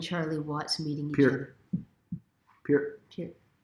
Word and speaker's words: Peart: Peart. Always think of the ear.